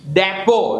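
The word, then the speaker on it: depot: साइ bouquet ने bouquet डेपो नॉट डेपो बस डेपो और बस डिपो the correct pronunciation is डिपो फसन फसन your seat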